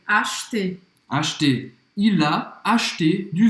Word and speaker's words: acheter: Então presta atenção porque em alguns lugares da França as pessoas vão pronunciar o E no meio. Eles vão falar acheter, tá? Mas em muitas outras regiões não vai falar esse E.